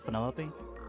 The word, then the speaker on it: Penelope: Is that short for Penelopey? Officially, yes. But I never can be bothered with all four syllables of it.